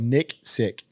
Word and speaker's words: Nicksick: name right it was close how how you pronounce it just outp spelled Nick sick Nick sick but I like I like the